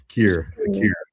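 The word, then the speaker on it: Kirra: Kira.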